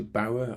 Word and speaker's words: Bauer: 2 companies control 67% of commercial radio, so Bauer, I think is how you pronounce it, B-A-U-R, and Global decide what you hear.